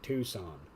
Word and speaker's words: Tucson: It's Tucson. Tucson or bust. Or if I didn't know it was actually pronounced Tucson, Tucson.